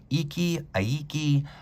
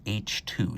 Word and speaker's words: Eichi II: the Japanese is that this watch is pronounced roughly H2, so Hummer H2, just like that.